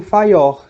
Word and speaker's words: Fayol: Teve o Taylor e teve o Fayor, certo? Essa é a pronúncia do nome, né? Isso.